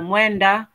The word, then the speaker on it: mwenda: So mwe, that's M-W-E, mwe. And then NDA is nda, not enda, nda. So mwenda, and then tezi, that's the easy one.